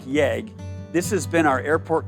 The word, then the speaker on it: YEG: the transition from eia to yeg pronounced like yag this has been our airport code since we opened in 1959.